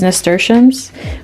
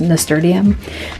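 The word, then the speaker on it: nasturtium: can focus, starting these nesters, which I recently learned how to pronounce them. I totally thought it was nestium.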